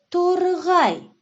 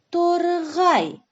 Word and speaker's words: торғай: Мынау торғай. Есть ли в слове тургай специфические звуки? Да, есть. Г. Торгай.